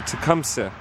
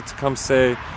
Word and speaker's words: Tecumseh: Among those killed was the famous Shawnee leader Tecumseh, or Tecumseh, depends how you want to pronounce it, who had worked to